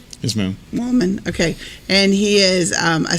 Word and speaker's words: Woolman: Woolman.